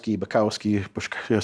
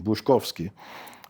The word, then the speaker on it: Bushkowski: And Bukowski, something like that. Bushkowski, they're the mispronunciations of it, but Polish name, Bushkowski. And that's not a very marketable name.